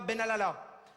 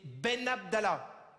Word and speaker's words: Ben Abdallah: Ouais, alors non, c'est pas Benalala, c'est Ben Abdallah.